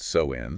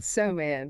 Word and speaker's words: Samhain: the new year October 31st was known as Sam Hayne okay and it's pronounced soen soan and the Kelts believed that on this night